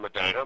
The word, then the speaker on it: Medina: Well, I was raised in Medina. My family. Medina. I'm sorry. Okay, I said Medina. Medina. Okay. So, yeah. It can be pronounced either way, and both ways are correct.